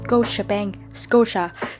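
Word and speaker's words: Scotia: bạn xem nè và ngân hàng này đọc là cô Japan Korea chứ không phải là kochi ABBank những các bạn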